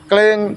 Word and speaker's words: cling: Misalnya cling ditulis, cling diucapkan.